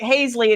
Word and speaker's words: Hazley: Yeah, at least now he's saying Hazley instead of, what were you calling it? Halsley.